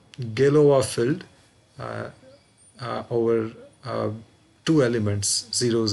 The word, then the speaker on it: Galois: The spelling is Galois.